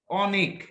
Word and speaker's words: অনু: যেমন আমি যদি বলি কিভাবে অর মতো হয়, যেমন আমি যদি বলি তোমার যেমন অনেক, একটা শব্দ বললাম অনেক, আর আর একটা শব্দ বললাম অনু।